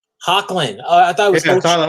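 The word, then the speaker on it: Hoechlin: You know, like Cavill versus Tyler H, because I don't know how to pronounce his last name. I'm not. Hochelin? It's Hecklin. Hocklin.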